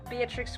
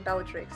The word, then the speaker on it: Beatrix: and The Haunting of Beatrix Green. I always want to say her name Bellatrix. That's just like what immediately comes to my brain whenever I think Beatrix, just out of habit, I guess, because of Harry Potter.